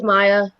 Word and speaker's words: Mia: Hi, my name is Maya. It's technically spelled Mia, but it's pronounced Maya.